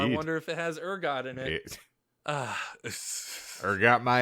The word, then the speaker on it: ergot: Like, it's one thing if it's just, I mean, I got to explain ergot, which I'm glad I did because you guys